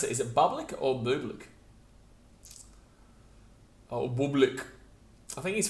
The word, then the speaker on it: Bublik: How do you pronounce it? Is it Bublik or Bublik?